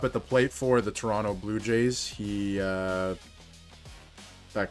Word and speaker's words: Toronto: day, sometimes with your Toronto Maple Leafs. I don't know why I pronounced the second T there, your Toronto Maple Leafs.